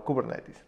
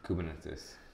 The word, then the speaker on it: Kubernetes: Kubernetes. There's a big discussion on pronunciation, but yeah. I think the actual one is Kubernetes.